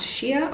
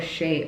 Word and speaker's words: Shea: Oh Shia this well this is pronounced Shia or Shea organics there we go um oh